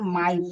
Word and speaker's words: might: MIGHT माइट, यहाँ GH silent है।